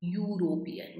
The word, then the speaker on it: European: No, a European tourist क्योंकि sound you का है, यूरोपियन, वाई का जो प्रोनाउंसिएशन.